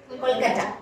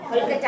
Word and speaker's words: Kolkata: Here we have to pronounce this Kolkata. இப்படி சொல்லணும். Kolkata ன்னு தான் சொல்லணும்.